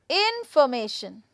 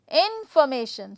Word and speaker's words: information: Again, so information, information, information. So here I am going to use information, right? So here I have put the stress on before MA, before the third syllable, okay?